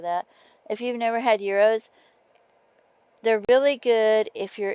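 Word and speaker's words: gyros: Um, euros. It's spelled like g y r o s.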